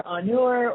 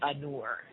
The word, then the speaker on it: Anur: So I guess the Anur. Excuse me, it's A-N, second word, N-U-R, Anur.